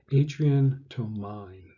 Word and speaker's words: Adrian Tomine: Here's a page from an artist called, and I always have trouble with his name, Adrian Tomine. That's at least how you spell it.